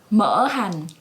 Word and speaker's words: Mỡ hành: this recipe yeah how do you say it Mohan yeah much like oil fat and Hannah's jive